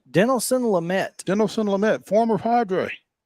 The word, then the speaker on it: Dinelson: Now it's Dinelson. Not Don Nelson. No, Dinelson.